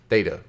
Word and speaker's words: theta: Theta Thursdays. Theta. Theta.